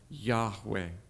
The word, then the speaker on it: Yahweh: consonants why whw but what we now can pronounce as Yahweh okay that's Hebrew okay very very sacred and